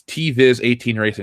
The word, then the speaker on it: TViz18 Racing: So it's TViz18 Racing is how it's pronounced.